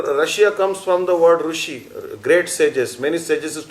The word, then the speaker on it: Rishi: The word Russia comes from the word Rishi, great sages. Many sages used to live in Russia. И слово «Россия» произошло от слова «риши», потому что раньше, или «руши», как они произносят на юге, потому что раньше